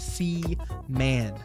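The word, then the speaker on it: Seaman: as a seaan that that's how you pronounce it seaan sea man like the ocean sea and then man that that's what that's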